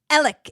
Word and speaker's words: Alex: do this on TCO so it's elic it's elic Murdoch it's written Alex murd but it's elic Murdoch like e l i c k elic Murdoch is how you're supposed to pronounce this guy's name look I love you